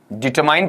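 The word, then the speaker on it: determine: आपका डिटरमाइंड बताइए क्या पढ़ा जाएगा इसे आपका डिटरमाइंड पढ़ा जाएगा और डिटरमाइंड है इसे अगर मैं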